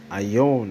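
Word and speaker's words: αἰών: Ion, that's how it's pronounced in Greek, but in English it's Eon.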